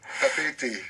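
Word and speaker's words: Papeete: Moi, je crois que je suis incapable de conduire dans Papette. Hein, non. Papé-été. Papette. Attention, Oui. attention à la prononciation.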